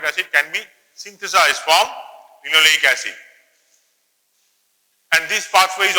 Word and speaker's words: linoleic: Always pronounce the way I am pronouncing: linoleic, linolenic, arachidonic.